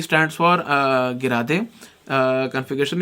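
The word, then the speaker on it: gerade: अनगिरा they, G इज गिरा दे, ठीक है। कई लोग इसे जीरेड है अनजीरेड बोलते हैं, पर actual pronunciation is अनगिरा they and गिरा दे।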